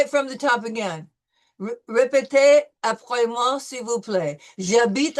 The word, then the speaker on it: J'habite: No, no, no. No H. J'habite.